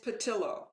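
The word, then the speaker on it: Pattillo: spanish accent sometimes so i want to say theo but i gather it's probably not pronounced that way it is patilla tell him yeah it's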